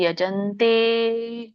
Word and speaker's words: ಯಜಂತೆ: ಕೃಷ್ಣ ಮಾತಾಜಿ ಎಲ್ಲರೂ ಸ್ವಲ್ಪ ದೀರ್ಘ ಒತ್ತನ್ನ ಗಮನಿಸಿ ಯಜಂತೆ ಯಜಂತೆ ನಾಮಯ ಯಜಂತೆ ಯಜಂತೆ ಯಜಂತೆ ಅಂದ್ರೆ ಅದು ಕಂಪ್ಲೀಟ್ ಅದು ಅರ್ಥ ಸೆಂಟೆನ್ಸ್ ಆಗ ಅರ್ಥ ಶಬ್ದ ಆಗಲ್ಲ ಯಜಂತೆನಾಮ ಯಜ್ಞೈಸ್ತೆ ದಂಭೆನಾ ವಿಧಿಪೂರ್ವಕಂ ಸರಿಯಾದ